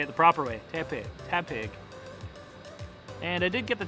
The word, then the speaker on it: Tepig: i didn't know so naturally i call it tay pig instead of tap pig so you'll so during the vlog you'll see